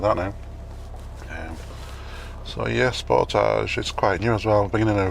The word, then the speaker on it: Sportage: light wasn't great there um sportage and that's how you pronounce that i'm sure if you're korean you might pronounce it differently i don't think it'll